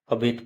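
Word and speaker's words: abet: डीई इसको advice पढ़ेंगे ए बी ई टी इसे अबेट पढ़ेंगे आप इसका मीनिंग देखते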